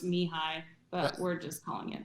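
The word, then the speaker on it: Mihály: to happiness and challenges his name is actually pronounced mihai but we're just calling it no no that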